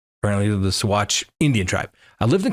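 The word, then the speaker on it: Saguache: Let me know it's pronounced Swatch. Apparently, the Swatch Indian tribe.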